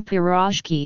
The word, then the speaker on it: pirozhki: with origins in Russia the stress in piroshki is properly placed on the last syllable Faraz huck singular is